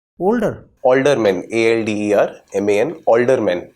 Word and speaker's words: Aldermen: Aldermen. Older. Aldermen. ALDERMAN. Aldermen. And it is pronounced as older.